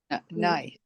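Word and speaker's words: יהוה: As a matter of fact, when we see Yud Ke Vav Ke in the Torah or in davening, how do we pronounce it? Adonai.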